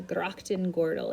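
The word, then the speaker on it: grachtengordel: amsterdam has a ring of canals called the grocton gordal is how you say that um so these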